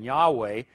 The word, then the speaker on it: Yahweh: the name of God they would spell it ywh uh if you ever did pronounce it which they never did most likely it would have been Yahweh but they have anglicized as Jehovah referring to this Old